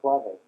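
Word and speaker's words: clave: It's called the clav. C l a v e accent on the e those of you taking French and I too bad.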